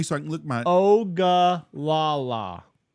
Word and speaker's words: Ogallala: Ogallala. Ogallala. Just like it sounds. It's the Indian tribe, the Ogallala. Yeah, I knew that. The Olagaga. Reservation confirmed for Ogallala.